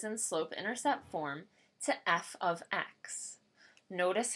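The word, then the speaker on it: f(x): the equation is in slope intercept form to F ofx notice how this is pronounced F ofx not f * X also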